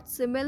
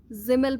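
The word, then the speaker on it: Simmel: फिर George सिमिल में आते हैं हम लोग, सिमिल लिखा है ना, जिमिल पढ़ते हैं, जिमिल, सिमिल लिखते हैं, जिमिल पढ़ते हैं।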